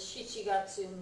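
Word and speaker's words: 七月: Special one for July, it uses shichigatsu, not nana.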